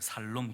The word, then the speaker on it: 샬롬: 발음을 잘하셔야 돼요. 샬롬. 그러면 안 됩니다. 샬롬이. 샬롬.